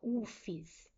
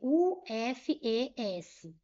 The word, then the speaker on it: UFES: exemplo, aqui, ó, igual UFES. Eu não pronunciei U-F-E-S, letra a letra. Eu pronunciei como eu pronunciaria qualquer outra palavra, UFES.